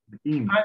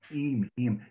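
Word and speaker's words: Eyam: Eam. It rhymes with gleam. Eam.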